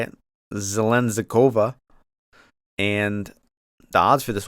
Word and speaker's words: Zheleznyakova: We're going with, that's how you say it, Zheleznyakova.